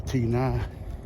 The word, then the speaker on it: Tina: Family went to see um the movie Tina uh which is spel like Tina but the accent is on the a. So Tina and Sam is uh